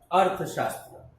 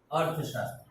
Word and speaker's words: Arthashastra: Now, first thing you can divide it earth. A-R-T-H-A. Earth. Earth. Sha. S-H-A. Sha. Then there is half S. Shastra. T-R-A.